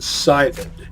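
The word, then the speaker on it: Scythid: By the way, that name is pronounced Scythed. You know, like scythe?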